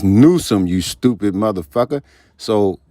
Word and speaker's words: Newsom: I was disappointed that Gavin Nuskum see Nusam he pronounced it as it's Nuome you stupid So not only is his core